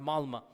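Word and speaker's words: Malmö: Malma is is spelled with an O but is pronounced Malma.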